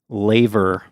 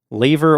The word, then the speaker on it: laver: And this is also the same type of seaweed that is referred to as laver. Laver or laver, I saw it can be pronounced.